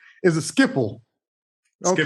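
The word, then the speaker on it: Schiphol: It doesn't look like Skipple, but Well, it's Dutch.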